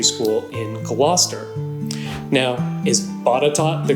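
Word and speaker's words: Botetourt: the Hampton Roads region it's batat the name comes from Norborne Berkeley fourth Baron batot and yes I'm going to keep saying batot commonly known as Lord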